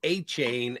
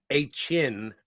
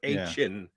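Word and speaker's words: Achane: what's the young Devon I was it was a chain and then somebody said afterwards it's uh Ain or Ain not a chain he corrected everybody's uh pronunciation of it the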